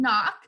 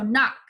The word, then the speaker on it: knock: So the silent word in knock is the silent K.